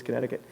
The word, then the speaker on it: Connecticut: I think I said it wrong at the beginning. It's Connecticut.